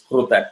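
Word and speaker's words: कृत: It is kru, kru. So wherever you see that semicircle at the bottom, that particular syllable has to be said with ka with ru, becomes kru. It is kruta.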